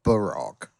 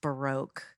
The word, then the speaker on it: baroque: was a master of Barack and the subtitle person didn't know what Baroque is now that word in American English and probably in French as well is pronounced baroque uh so in case